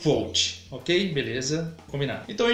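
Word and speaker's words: Kvothe: chama gol é verdade a pronúncia é co mas é um saco para esse comportamento tão próprio registro aqui no vídeo vai ser coach ok beleza combinado então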